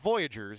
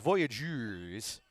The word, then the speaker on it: Voyageurs: Again, it's it's not Voyagers, it was Voyageurs. Spelled with a U.